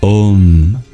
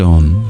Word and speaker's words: Aum: we begin with om which comprises three letters a u and M pronounced Ed as a single sound ah is pronounced with an open mouth ooh with a half closed mouth and M with a fully closed mouth the extreme open vowel